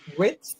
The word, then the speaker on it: Wirtz: I said, anytime you see with how do you pronounce his name? Wirtz? Oh, Verts? Verts.